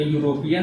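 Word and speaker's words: European: क्या होगा वोवेल होगा, बट इसका साउंड अगर हम लोग देखेंगे यहाँ प्रोनाउंसिएशन करेंगे तो यूरोपियन है, यूरोपियन। ठीक है, इसका फर्स्ट क्या है य कौन सा है कॉन्सोनेंट साउंड है, ये कॉन्सोनेंट है।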